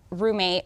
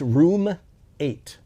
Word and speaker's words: Room 8: you know, we gave Roommate, who was our partner working on this, Sorry, we had, I keep mispronouncing. It's Room 8, not like roommate.